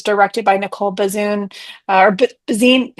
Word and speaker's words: Bazuin: and it was directed by Nicole Bazinet or Bazine.